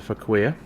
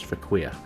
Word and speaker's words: Fauquier: I believe I pronounced that correctly. I did As I said in a previous episode, I did go and check the pronunciation, but that was several weeks ago, and I may have forgotten, but I believe that's what it was for queer.